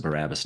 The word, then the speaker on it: Barabbas: I pronounce it Barabbas now because that's how they do it.